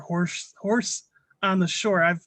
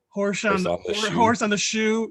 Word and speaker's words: HorseOnTheShore: Horse on the Shore. I know I've mispronounced your name several times on previous podcasts. I think I called you Horse on the Shoe.